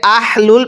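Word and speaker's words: أهل: এই গোল হাটাকে উচ্চারণ করার সময় যদি গলার মাঝখান থেকে বাতাস বের করে আহ লুল পড়ি তাহলে কিন্তু পড়াটা শুদ্ধ হবে না, এই হাটা উচ্চারণের সময় গলার মাঝখান থেকে আওয়াজ বের করে পড়তে হবে।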